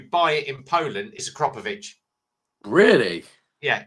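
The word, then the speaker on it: Akrapovič: It's called Acropovich is the correct spelling of it. So, if you Google it, have a look, and it'll tell you the correct way to say it. It's Acropovich. But everyone says Acropovvic.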